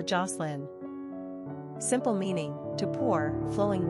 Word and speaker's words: Jocelyn: Pronunciation, J-A-H-S-L-I-N or Jocelyn.